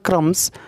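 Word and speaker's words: crumbs: और उसके बाद देखिए यहाँ पे लिखा हुआ है क्रम्स। ठीक है, और यहाँ पे बी जो है वो साइलेंट है।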